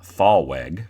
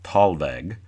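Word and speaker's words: thalweg: it should be pronounced fallweg t-h-a-l-w-e-g but it is typically pronounced talveg the podcast away with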